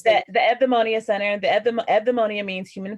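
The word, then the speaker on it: Eudaimonia: So it's the Evdaimonia Center. It looks like EU, but that U is pronounced like a V. Ev, DAI, soft, like the TH, soft D, and Monia.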